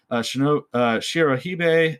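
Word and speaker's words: Shirohebi: Shirohige, that's how you pronounce it, are distinguished by their pale skin, white hair, and white serpentine lower bodies.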